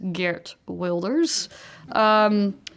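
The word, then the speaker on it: Geert Wilders: may have known heard of but more likely pronounces geared welders you know called for the batting of the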